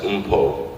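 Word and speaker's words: Mpho: My first name is pronounced Umpo. And I figure that's a relatively easy way to say it, but my mother would call me Umpo. That's like the authentic African way to pronounce it.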